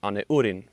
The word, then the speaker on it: Anurin: Uh now Anurin uh his name is pronounced an urin in ularu.